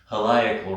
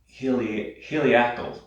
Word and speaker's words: heliacal: And that has a tie-in with the theme for class, which is heliacal rising, or heliacal rising is also, both pronunciations are correct.